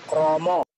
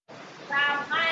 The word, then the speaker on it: krama: Kromo. Krama ya, bacanya bukan kromo.